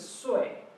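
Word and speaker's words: 岁: And the pronunciation is sui. So the tone goes down, the fourth tone.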